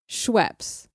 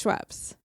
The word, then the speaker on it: Schweppes: And the big three brands of those are Canada Dry, Seagram's, and Schweppes. Are we agreed that it's pronounced Schweppes?